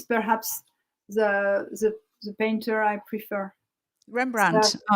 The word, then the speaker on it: Rembrandt: Rembrandt. Yes, you probably pronounced it properly. In English, Rembrandt. It's straight Rembrandt.